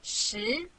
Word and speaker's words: 十: This is its syllable, 十.